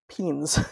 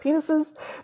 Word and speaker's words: penes: which is two eversible penes, which is really how it's pronounced. I would have said penises, but as a herpetologist,